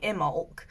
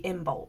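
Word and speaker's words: Imbolc: and then this book says it's IM bulk and you say the be but I thought it was a silent be so if you are pagan or Celtic how do you pronounce it cuz I say imul but apparently it is actually imul so I'm like oh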